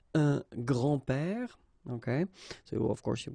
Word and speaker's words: grands-pères: Okay, so it's not really difficult, and especially if you think about that, you don't pronounce this S, so actually phonetically it's the same grand-père here and grand-père here.